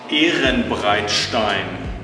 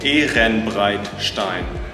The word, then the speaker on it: Ehrenbreitstein: Fabian, what's the correct pronunciation of this castle? Ehrenbreitstein Festung, Ehrenbreitstein.